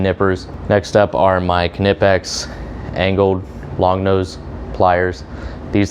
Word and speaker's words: Knipex: tell i really like canipex and yes the k is pronounced we're not going to